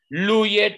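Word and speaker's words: loup: Luye tu. Entonces, ¿qué palabra? ¿Qué palabra de esa canción se escribe con la sílaba lu? El lobo. Ajá. Voilà, lobo se dice lu. Solo le agrego una P.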